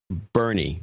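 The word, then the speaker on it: Boerne: Dustin Martin in Salem, Oregon, Judy Schwartz in Bern, Texas. Bernie. Oh, okay. Yes. B-O-E-R-N-E is Bernie's local pronunciation. Nobody in their right mind would call it that except the local.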